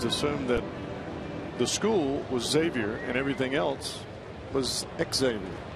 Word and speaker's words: Xavier: If you notice, we called him Xavier Paul. He finally let everybody know after we had Xavier night here last night that his name is actually pronounced Xavier.